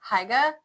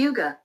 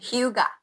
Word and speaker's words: hygge: Like Hugh Hefner. Yep. Gah. Okay. Hyoo-guh. our friend Amanda is living through us vicariously as well. Hyoo-guh.